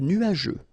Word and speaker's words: nuageux: Remember, final X here, not pronounced.